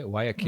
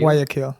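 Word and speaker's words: Guayaquil: Hill Ecuador where is how do you say wakil wakil that's the city like the main city in Ecuador and the biggest one also bigger than Kito yes bigger than Kito Kito is cold and wakil is Coast so he very hot and yeah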